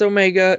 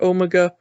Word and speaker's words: Omega: It's Omega. It's not Omega.